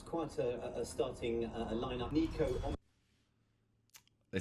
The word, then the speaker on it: Niko: wrong i can't believe it's nico not nico i don't know how